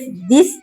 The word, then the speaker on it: the: तो दी को हम तब प्रोनाउंस करते हैं जब नेक्स्ट वर्ड हम वोवेल साउंड से शुरू होता है। जैसे कि एप्पल। तो यहां एप्पल वोवेल साउंड से शुरू हुआ है। तो क्या प्रोनाउंस करेंगे? दी एप्पल।